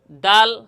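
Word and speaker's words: دال: জিহ্বার আগা সামনের উপরের দুই দাঁতের গোড়ার সঙ্গে এবং হালকা মাড়ির সামনে লাগাইয়া দাল হরফ উচ্চারণ হবে বা তার মাকাম উচ্চারণের স্থান।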